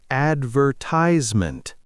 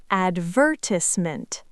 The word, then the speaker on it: advertisement: Americans often say advertisement. British often says advertisement.